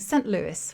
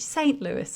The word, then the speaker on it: St. Louis: Like I remember one of my friends said, oh, by the way, you're saying St. Louis, which is the very British way of pronouncing it. It should be St. Louis.